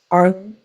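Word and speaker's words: Ailm: We have the silver fir, representing the letter A, pronounced Arlum.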